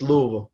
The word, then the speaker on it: Louisville: pronounce that correctly oh you gotta just just louisville the living this just louisville